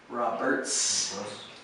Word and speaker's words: Roberts: States now Roberts yeah I always put that s sound on the end Roberts Roberts John Roberts that's right Roberts yeah yeah John Roberts that's right number 41.